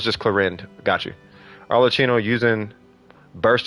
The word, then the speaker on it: Clorinde: No, it's just Clorinde without a final syllable. Oh, it's just Clorinde.